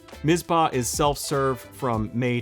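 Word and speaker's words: Mizpah: list is mispa spring I used to always call it mitzpah I don't know if other people call it mitzpah but it's spelled mispa mispa is self- serve from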